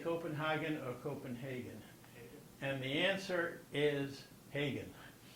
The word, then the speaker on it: Copenhagen: we say Copenhagen or Copenhagen? And the answer is Hagen. Why? because the Germans say Hagen and the Danes have some problems with the Germans.